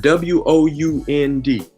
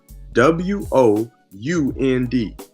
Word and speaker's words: wound: nd wo u nd they'll tell you that that one is wound and one is wound they're both spelled the same way but they sound two different ways and they mean two different things thanks I bet that's